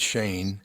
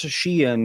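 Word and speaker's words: Shein: fast Fashion Store sh I N I would pronounce that Shane h e i yeah Shane what I would say probably would it be Shen instead because it's Chinese sh let's see it's pronounced Shen yes Shen yeah there oh it's because yeah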